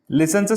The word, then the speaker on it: listen: लिसनचं spelling लक्षात घ्या, LISTEN. जरी तिथे टी असला तरी तो टी सायलेंट आहे आणि म्हणून उच्चार होतो लिसन.